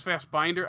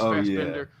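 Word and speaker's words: Fassbinder: I thought it was fast binder I think it's fast Bender what's what's his full name again I'm forgetting it in the moment it's same here Fender no no no a German fast Bender fast binder isn't it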